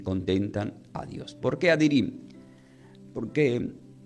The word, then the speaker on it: Addirim: ¿Por qué adirim? Porque la palabra íntegro del hebreo se pronuncia como adirim.